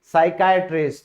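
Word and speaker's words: psychiatrist: Next है मनोचिकित्सक, यानी कि साइकाइट्रिस्ट, तो दोस्तों यहां भी क्या है, जो पी है वो एस से पहले आ गया, तो ये हमारा साइलेंट हो गया।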